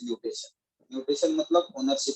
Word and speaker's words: mutation: बोला जाता है म्यूटेशन, लेकिन आदमी सब म्यूटेशन प्रोनाउंस नहीं कर पाता तो इसलिए बोल देता है मोटेशन। वो मोटेशन नहीं होता है, एक्चुअली इट इज म्यूटेशन।